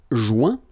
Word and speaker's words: joint: Joindre, joint. Rejoindre, rejoint. Okay? Same thing. Final T not pronounced. Joint. So when you get this O-I-N combination of letters, you get the sound ouin.